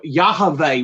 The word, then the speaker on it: Yahweh: You have to put a vowel in it to pronounce it. So it almost be like Yahweh, like Jehovah almost. But there's no J's in Hebrew, but so Yahweh would be about the only way you can pronounce it.